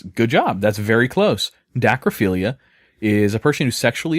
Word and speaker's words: dacryphilia: This next one is called dacryphilia. D-A-C-R-Y. Dacry? That's dacryphilia. D-A-C-R-Y. Yep. So it's not a daiquiri.